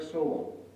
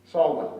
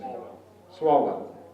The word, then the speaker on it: Swalwell: Congressman Eric Sewell from from California. Swalwell, rather, is pronounced it. Swalwell, like I got it.